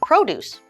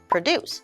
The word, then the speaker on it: produce: produce or produce so when we emphasize the first half of produce with Pro then we're talking about the noun meaning fruits and vegetables so our example sentence is the farm has a lot of produce so let's change the emphasis to the second half of the word produce with dece going upwards and that is our